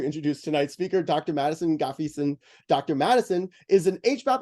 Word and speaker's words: Ngafeeson: pronounce your last name we tell as though the first end is silent so it's like Gaffigan Dr Madison gaffyson and I'm embarrassing myself